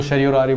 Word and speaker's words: certiorari: तो यहाँ पे हम इसको मैं बोलता हूँ शटियोरारी, कोई इसको शरियोरारी बोलता है। ठीक है? डिपेंड अपॉन कि आप कैसे इसको प्रोनाउंस करते हैं।